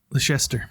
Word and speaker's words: Leicester: And there's the, is it like Leicester? Like Lancaster? I'm not sure how you say that. Can you show it to me? Right there. Leicester? Leicester.